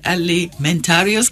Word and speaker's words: Alimentarius: Did I get the pronunciation right? Alimentarius Committee? That's correct. That's very much correct.